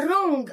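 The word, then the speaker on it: wrong: بقى بطريقه خاطئه تبقى رونج حرف البليو هنا يا جميل مش بيتنطق رونج او كلمه ان واخد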